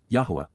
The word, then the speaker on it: Yahweh: advice please be aware and then W Yahweh Yahweh the proper pronunciation of the name of yoah God as